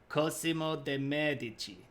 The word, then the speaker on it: Cosimo: are getting paid yeah I knew this first syllable is supposed to be stressed more thank you techman um I will only accept it if you read it as robotically Cosimo de there we go